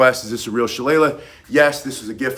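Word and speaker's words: Shillelagh: I only call it Shala, not Shalle, because my Irish father-in-law was born in County Wikllo.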